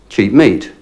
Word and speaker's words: cheap meat: But if we pronounce those words separately, they sound differently to when we pronounce them together. Cheap meat, cheap meat. Together the P is silent, cheap meat.